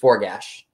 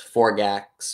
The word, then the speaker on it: Forgash: the next time, Forgash. Now I know. See, I'm one of those people that will actually pronounce something the way it's spelled. So that's why I thought it was Forgax or Forjax.